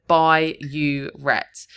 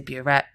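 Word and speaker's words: burette: One common mistake here is writing bureet instead of by uret. They will accept if you've spelled it incorrectly, but phonetically it sounds the same.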